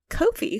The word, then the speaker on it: Ko-fi: You can donate or subscribe through our new Ko-fi, where you can buy us a coffee.